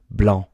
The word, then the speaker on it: blanc: Blanc for masculine, blanche, which is weird because the C is usually pronounced at the end.